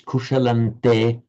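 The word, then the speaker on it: कुशलं ते: So written with the anuswaras, the subdotted m, but pronounced as a n because of the following te. So you write kushalam anuswara te, but you pronounce kushalante because the following te.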